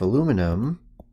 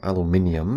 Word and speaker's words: aluminium: So this is telling us that 2.70 grams of aluminum, or aluminium if you want to pronounce it that way, is the mass of 1 cubic centimeter.